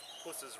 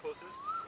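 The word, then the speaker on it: Pusser's: this amazing bottle of puss's rum it is actually it has actually pronounced purses i've talked to several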